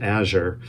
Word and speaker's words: azure: least thought that word in my head as azure. And when I did a bit deeper dive on it, it's actually probably pronounced azure.